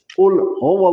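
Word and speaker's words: قُل: रखना है कि यह जो कुल है कुल और दूसरा जो काफ है बारी काफ किताब वाला उसकी अदायगी नहीं होनी चाहिए अगर हम कहेंगे कुल तो इसका मतलब है खाओ और इसको कुल प्रोनाउंस करना है आपने कुल लाद को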